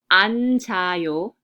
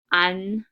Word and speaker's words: 앉아요: So it's pronounced as 앉아요, 앉아요. So with resyllabification, the first final consonant stays at the bottom, right? And the second final consonant, it shifts to the next syllable that starts with the vowel.